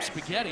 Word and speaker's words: Spaghetti: So where'd you get that nickname, Spaghetti? I know it rhymes with Eddie.